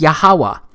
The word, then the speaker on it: Yahweh: But this YHWH, it's pronounced as Yahweh, because it turns out that the language was so simple back then that it vocalized each consonant with an ah sound without specifically marking that sound between consonants. So this YHWH, it's pronounced Yahweh.